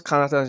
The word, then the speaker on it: Kanata: How do you pronounce Kanata's name?